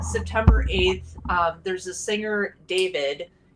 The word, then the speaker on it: D4VD: So on September 8th, there's a singer, David. It's spelled D4VD, which looks like the word dead.